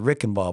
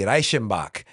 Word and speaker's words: Reichenbach: We pronounce it Reichenbach, but Sammy, anybody who ever spoke or learned German knows that it's phonetically Reichenbach.